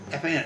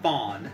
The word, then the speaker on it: fan: F-A-N. It's not fawn. It's fan.